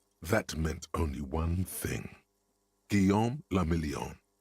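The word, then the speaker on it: Guillaume Le Million: Guom lamelion. If it doesn't rhyme, you're not pronouncing it right.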